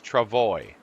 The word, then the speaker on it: travois: up and it says push this to see how it's pronounced now when I push it it says Travoy which makes sense to me but I'm from Cleveland I'm no French Canadian close I guess well